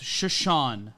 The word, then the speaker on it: Chiasson: Matt, it's pronounced Chiasson. Oh, yeah, sorry. The phonetics here. There's no phonetics guide, so it's Macy Chiasson. See, Chiasson, you would see that, but the double S always fucks me up, which is why I like pronunciation guides.